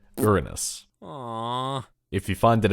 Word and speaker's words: Uranus: But from now on I'm going to be saying the proper pronunciation. Uranus.